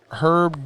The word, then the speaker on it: Herb: Herb. The H is silent.